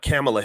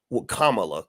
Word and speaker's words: Kamala: hear him really tell you exactly why C camela Harris Kamala Kamala I'm gonna pronounce it right uh why kamla Harris was